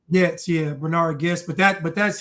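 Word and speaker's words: Goetz: yeah, I think it's pronounced Getz, maybe. Getz, yeah, Bernard Getz.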